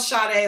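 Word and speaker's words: Sade: It's spelled shade like shade. S A D E. Like the singer.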